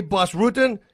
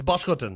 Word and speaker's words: Bas Rutten: I go like, guys, if you say Bas Rutten, you messed up my name. You butchered my name. Right. It's Bas Rutten.